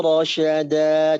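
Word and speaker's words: رَشَدًا: Nah, pas rasyada, sya-nya jangan ngambil jarak dulu ketika diucapkan ya, tapi langsung rasya. Amrina rasya. Amrina rasyada.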